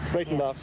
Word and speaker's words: Breitenbach: How do you pronounce that? Breitenbach. Breitenbach.